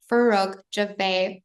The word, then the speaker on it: Farokh Jiveh: Farokh Jiveh. Welcome to Dentalflix Uncut. Please introduce yourself to our Oh, audience. I love that pronunciation.